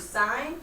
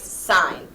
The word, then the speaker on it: sine: So everyone writes sine. It looks like it's spelled sin, but it's not sin, it's sine.